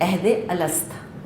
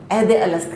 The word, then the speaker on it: عہد الست: اس کو کہتے ہیں عہد الست، نام ہی اس کا یہ ہے۔ عہد اسپیلنگ آتی ہے آپ کو، عین ہا دال، اور الست حمزہ لام سین تا، عہد الست کہتے ہیں اس کو۔ اللہ نے سب انسانوں